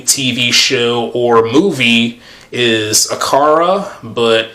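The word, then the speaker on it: Akira: His favorite uh anime, TV show or movie is Aara, but in a Japanese pronunciation, I think it's Akida.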